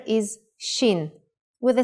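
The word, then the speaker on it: שין: gurgling water in print the next letter is shin with a sound of sh and it looks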